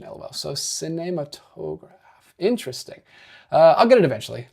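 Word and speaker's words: Cinématographe: She says it's apparently pronounced cinematograph. See, I want to immediately go into a Spanish accent because that's what I took 2 years of in high school. But I'm trying to get my French accent down a little better. Plus an accent on the R if you want to do it. Be more accurate with the French pronunciation, lol.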